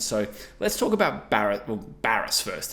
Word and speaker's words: Barrass: their contract negotiations so let's talk about bar Baris first it's pronounced Baris obviously he's met with Hawthorne wrestling and Sam